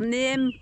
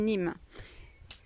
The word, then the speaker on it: neem: Donc voilà, donc je voulais faire un petit point donc, sur le Nîmes, parce que je voulais dire Neem parce que ça s'écrit N-E-E-M. Donc en fait, ça se dit Nîmes.